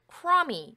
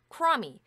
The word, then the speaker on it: crummy: 그래서 b가 묵음이에요. 소리가 안 납니다. 발음이 안 돼요. 이것도 마찬가지죠. 그래서 b가 소리가 안 나기 때문에 발음이 crummy 이렇게 돼요. crummy.